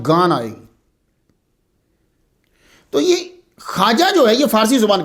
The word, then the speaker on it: خواجہ: آجامیر کی خواجہ، اس کا تلفظ جو ہے وہ خواجہ ہے، لکھا جاتا ہے خا واو الف اور جیم آگے پھر وہ ہا، تو خواجہ نہیں پڑھیں گے، اسے خواجہ پڑھیں گے، جمع اس کی خواج